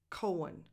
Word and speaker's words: Cohen: You hear a little bit of air that I'm releasing, but it's coming from the C, from K, Cohen. That H in the middle is silent.